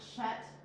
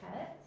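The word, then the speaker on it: חית: So you do, it's not Chet like chi, you know, the CH in English. It's Chet.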